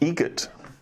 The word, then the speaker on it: Eget: Eget. Eget. Spelled differently. Like the bird. That's Eget.